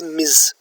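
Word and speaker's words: Ms.: the word miss and is not pronounced as miss it is pronounced as ms then sir madam and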